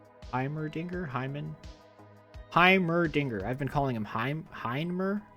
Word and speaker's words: Heimerdinger: Apparently, I've been saying Heimendinger wrong. I don't know how you say it. Heimerdinger? Heimerdinger.